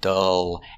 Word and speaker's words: dull: example is dull dull making the vowel uh dull and the L is a dark L it's in the back